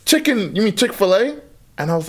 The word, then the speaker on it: Chick-fil-A: You pronounce the A. I just thought to me it was chicken fillet. That's how I used to pronounce it.